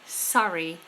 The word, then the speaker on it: Surrey: And the county Surrey. Surrey. Similar but different to the word sorry.